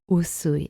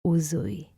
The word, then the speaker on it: Usui: Our founder, Mikao Usui, not Mikao Uzui. Usui, like S, and not Uzui, like Z, right?